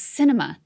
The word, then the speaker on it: Sinema: film init dowd writes the arizona senator's name is pronounced cinema and it is apt